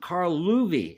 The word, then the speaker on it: Carl Loewe: And I finally figured out how to pronounce this guy's name, Carl Loewe, Symphonies 1 and 2.